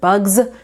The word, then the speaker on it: bugs: So, one example I like to give is the word bugs. That's a kindergarten word, but the S is spelling z.